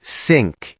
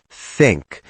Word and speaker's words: think: Put your tongue between your teeth and blow air gently.